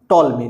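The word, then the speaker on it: Ptolemy: 140 ईस्वी में क्लॉडियस टॉल्मी ने। यहां पर पी साइलेंट है, ध्यान रखिएगा, ये टॉल्मी लिखा हुआ है।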